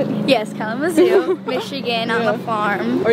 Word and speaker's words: Kalamazoo: Yes, Kalamazoo, Michigan, on the farm.